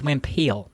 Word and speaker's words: Wimple: It's spelled Wimple, but it's Wimple. It's Dutch.